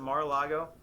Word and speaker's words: Mar-a-Lago: they rated Trump's place in how do you pronounce it? Is it Mar-a-Lago?